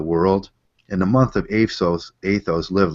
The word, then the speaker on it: Athos: Anybody that hasn't seen the monk of I think it's pronounced Athos, isn't it? Athos, yeah.